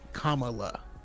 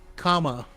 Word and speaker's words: Kamala: I mean, we just came off of a whole election, and people couldn't say Kamala, Yeah. Kamala. Like it's weird. A lot of people were saying Kamala because of Miss Marvel.